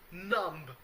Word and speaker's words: numb: that's i've gone completely numb i don't i don't think that you i should uh pronounce the b at the end you know it's like lamb or dumb the bee is not